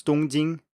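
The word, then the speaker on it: 东京: but in chinese it's dongjin and they are written the same way in japanese and chinese but obviously pronounced completely differently so if this sounds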